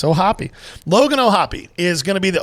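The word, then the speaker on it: O'Hoppe: p e two consonants is that vow supposed to be long yes with the two consonants if there was only one it would be hope oh hope Indiana's education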